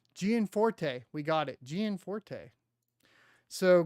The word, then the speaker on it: Gianforte: I'm curious why my sound's not working oh gianforte gianforte we got it gianforte so Greg gianforte's desk